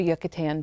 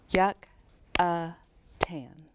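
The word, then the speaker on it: Yucatán: what's now called the yucatan peninsula can you say yucatan peninsula with me yucatan peninsula how many syllables does yucatan have yuck a tan yuccatan that's a funny word isn't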